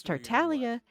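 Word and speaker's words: Tartaglia: Because Tartalia is Italian. That's what it sounds like you're saying, but I get the feeling that's not quite what you meant. And yet you all say the G. You're not supposed to pronounce the G in Italian. You don't pronounce it.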